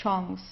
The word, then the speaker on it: Chance: In this case, it's a French word, so we pronounce it the French way, die Chance.